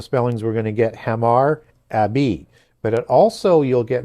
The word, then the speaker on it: Hammurabi: So typically that H is going to be silent but typically also in the spellings we're going to get hamar abi but it also you'll